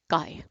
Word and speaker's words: chi: square greek letter chi it is pronounced by kai right aka square this